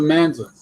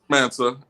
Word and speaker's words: Mansa: how'd you come up with the Manza? What's the right pronunciation? Mansa. Manza. Okay. Some people say monster, you know, however you want to say it.